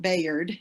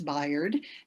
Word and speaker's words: Bayard: or dresden's name because it's not bayard it's biard and unfortunately he is no